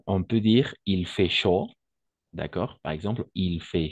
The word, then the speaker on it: chaud: peut dire il fait chaud d'accord par exemple il fait chaud n'oublie pas a et U on va toujours prononcer o il fait chaud d'accord chaud simplement chaud ici où il fait